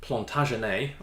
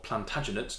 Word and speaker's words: Plantagenet: one of the first plant RNA or Plantagenet depending on how you like to pronounce it from the House of